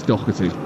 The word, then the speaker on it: Doherty: Is it Doherty or Doherty? We're going with Doherty. I think if you say it the way it's supposed to, it's Doherty.